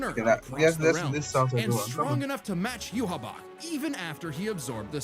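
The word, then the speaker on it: Yhwach: And while other shitty, is that how to pronounce his name? Yuab. I thought it was you. I don't I don't actually know how to pronounce his name now that I think about it. Hang on. Wait, I I have to go. Surprise, surprise to me. Uh, death battle is completely correct here.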